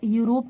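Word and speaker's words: Europe: The people of यूरोप learn their lessons, यूरोप में ई silent होगा, यूरोप।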